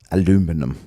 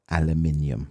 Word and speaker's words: aluminium: Um yeah, but the best one is aluminum. Aluminum. The is that? Aluminium, please.